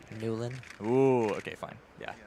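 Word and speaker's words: Nieuwland: how to pronounce things you pronounce my last name n i e u w l a n d nulan ooh okay fine yeah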